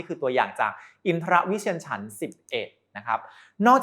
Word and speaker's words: อินทรวิเชียร: ว่า ฉัน ชนิด นี้ อ่าน ว่า อินทรวิเชียร ฉันท์ 11 ไม่ ใช่ อินทระ นะ ครับ ต้อง ออก เสียง กล้าม ด้วย นะ ใน มงคลสูตร คำ ฉันท์